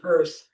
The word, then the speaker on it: Peirce: That's her, and he pronounced it Peirce, Charles Peirce.